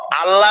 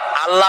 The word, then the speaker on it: আল্লাহ: গুনাবলিতে বিশ্বাস আল্লাহর নাম আল্লাহ বলেন তো আল্লাহ নয় কিন্তু আল্লাহ হচ্ছে অশুদ্ধ শুদ্ধ হচ্ছে আল্লাহ বলার সময় মুখটা গোল হয়ে যাবে বলেন তো সবাই উচ্চারণ